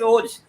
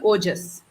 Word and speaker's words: ओजस: और डॉक्टर भास्वती, थोड़ा आप एक्सप्लेन कीजिए, ओज क्या है, इम्यूनिटी क्या है, व्हाट इज ओज, होता क्या है, एंड how does it protect? ओज का संस्कृत उच्चारण है ओजस जी।